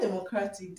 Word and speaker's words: democratic: for example um Democratic in the word Democratic distress is on c a okay let's think of